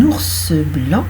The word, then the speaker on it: ours blanc: c'est intéressant, par exemple, vous avez un ours blanc, vous voyez, un ours blanc, on entend bien le E. Eh bien, figurez-vous qu'il n'est pas à l'écrit. Il est invisible. Voilà, cet ours blanc. Mais on le dit, il est là. Voilà. Donc, il peut être entendu, mais il n'est pas écrit.